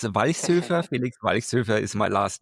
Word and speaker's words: Walchshöfer: It's Vice Surfer.